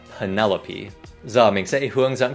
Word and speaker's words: Penelope: Không phải Penelope, mà là Penelope.